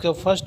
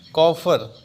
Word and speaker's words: coiffeur: आज का first word है कॉल्डेरियम।